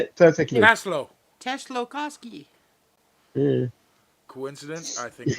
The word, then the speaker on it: Tsiolkovsky: Tsiolkovsky. Oh, it's Kovsky. The last part of it is Kovsky. So it's... Tsiolkovsky.